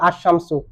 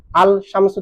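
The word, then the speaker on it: الشمس: তো হরফে শামস যদি আসে লাম তো উচ্চারণ হবে না, যেমন আশ-শামসু, আল শামসু থেকে আশ-শামসু, এখন আন-নাসু হয়ে যাচ্ছে না, আন-নাসু।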